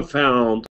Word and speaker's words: found: O found diye okunmuyor çocuklar. Bakın. Evet. Evet, bakın böyle okunuyor. Böyle yazılıyor. O ile yazılıyor ama found. Found diye okunuyor. Found diye okunmuyor yani. Cook found diye değil. O'ya kaçmıyor. Daha çok A'ya kaçıyor.